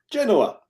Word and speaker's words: Genoa: Genoa. There you go. Genoa. It's a little A at the end. Just, yeah. All right, this is 9 a.m. Eastern on Saturday. Martin, start us off. Yeah, Genoa have really struggled on the road this season.